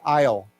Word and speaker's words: isle: we stay together Isle remember that we don't pronounce the Le so we just say aisle okay so the 49 of these aisles are